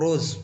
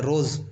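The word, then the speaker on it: rose: और रोज़, second last वाला letter S को देखिए, यहाँ पर एस का उच्चारण ज की तरह हो रहा है, रोज़, रोज़ ही पढ़ते हैं ना इसको।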